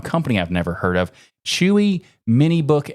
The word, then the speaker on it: Chuwi: I've never heard of chewy mini book X sure yes chewy I think it's supposed to be pronounced chewy who knows but you